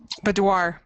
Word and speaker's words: boudoir: So, for instance, we've talked before about doing I can never pronounce this right. Boudoir. What? How do you say that, Kathleen? Boudoir Thing.